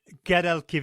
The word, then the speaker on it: Guadalquivir: The Guadalquivir. Yeah. Oh no, I'm not even pronouncing it correctly. Do you want to try it one more time for me? The Guadalquivir. There you go, that'll do.